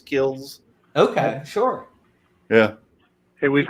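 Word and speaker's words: Kilz: And it's spelled K-I-L-Z, I believe it is, Kills.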